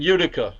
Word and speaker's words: Utica: In Utica or Attica, Utica, how do you say that?